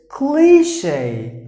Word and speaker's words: cliché: So it's a cliche. It's not a new one. It's an old one. Cliche. That's how you have to pronounce the word.